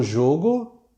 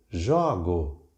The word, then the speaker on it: jogo: O jogo e eu jogo, o verbo jogar conjugado e o substantivo. Vejam que novamente a escrita é a mesma, sem acento, desde 1971. Mas a pronúncia é diferente. Timbre fechado, O, e timbre aberto, O.